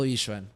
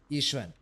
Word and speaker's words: Yixuan: Because I think from what I've heard, there's not that much emphasis. It's like Yixuan. Like, it's more I than it is Y.